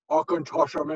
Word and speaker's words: Auchentoshan: Think Sir Sean Connery, Auchentoshan into the river much easier than you can.